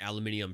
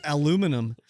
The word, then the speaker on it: aluminium: Why do you say it aluminium? Yes, aluminium. That's how you say it. I thought it was aluminum. Aluminium? Actually, both names are correct, apparently.